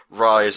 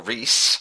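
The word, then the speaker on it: Ryse: game shown which is rise or Reese as it should be pronounced uh son of Rome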